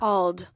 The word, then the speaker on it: Auld: Old. You got the official. Yeah. That's the official word pronouncer of the Matt Murphy Show right there.